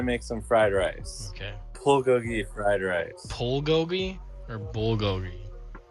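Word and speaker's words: 불고기: Can I still call it bulgogi? Well, I'm not going to say that's incorrect, but the common pronunciation is bulgogi.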